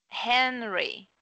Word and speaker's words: Henry: então hen fala primeiro fala assim hen hen hen só primeira sílaba hen hen hen hem hem hen Henry Henry Henry Henry Henry